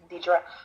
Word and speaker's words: Deidre: I think what's interesting, that is Deidre, right? That's how you pronounce? Yes. Deidre.